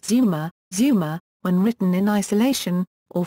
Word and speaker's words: 妻: The 妻 component means 'wife' and is pronounced tsuma (つま) when written in isolation—or frequently as zuma (ずま) when it features after another syllable.